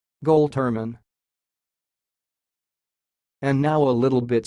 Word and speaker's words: Goltermann: word word you see it sounds like gold Turman goal Turman and now a little